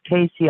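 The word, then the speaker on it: Cayce: my acostic record readings I believe it's pronounced Casey actually I had uh uh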